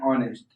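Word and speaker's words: honest: मतलब एन ऑनेस्ट, यह इसमें साइलेंट है।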